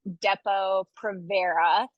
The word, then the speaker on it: Depo-Provera: So it is pronounced Depo-Provera.